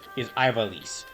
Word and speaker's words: Ivalice: But currently what it is today, since this is Monday, is Ivalice.